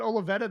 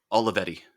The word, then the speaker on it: Olivetti: uh that that would that olivetta that you have is that the right way to pronounce it the level aloe vera olivetti olivetti that's right did you find that